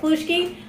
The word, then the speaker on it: halushki: Is that how it's pronounced? Yeah, okay, halushki.